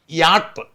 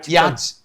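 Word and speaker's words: yacht: POCSO അത് നമുക്ക് അതെന്തോ പറഞ്ഞ അതല്ല അപ്പൊ തന്നെ ഇതല്ല ഇംഗ്ലീഷ് വാക്കുകൾ ഇപ്പോ ഉദാഹരണത്തിന് യാട്ട് യാട്ട് എഴുത് വൈ എ സി എച് ആണ് വൈഎസ്എച്ച് യാ യാച്ച് യാച്ച് അല്ല യാട്ടാണ് യാട്ട് അതുപോലെ കിയോസ് എന്ന് പറഞ്ഞ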